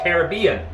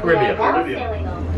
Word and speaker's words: Caribbean: heart of the caribbean they pronounce it caribbean not caribbean tough to see because